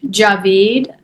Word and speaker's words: Djavid: I'm used to my name being pronounced all different ways, but it is pronounced javeed, but it's spelled D J A V as in Victor I D.